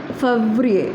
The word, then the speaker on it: Février: Février, and the pronunciation is Février.